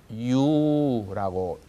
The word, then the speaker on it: Ю: 이것은 유라고 명칭이 되어 있고요. 소리도 유 이렇게 납니다.